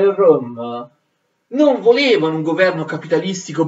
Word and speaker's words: Röhm: Erano comandate da un personaggio come Ernst, spero di averlo scritto bene, Röhm, questa E con i puntini di elisi si legge E, Ernst Röhm.